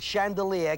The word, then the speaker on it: chandelier: The sh sound is six. The n sound is two. The d sound is one. The l sound is five. The r sound is four. 62154 is the only number that the word chandelier can transpose to.